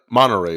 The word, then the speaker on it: Monterey: and and you grew up in uh monterey is that how you pronounce it monterey california yeah i'm uh that's where i was